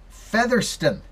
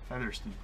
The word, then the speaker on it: Featherston: How do you pronounce that? Featherston. Featherston.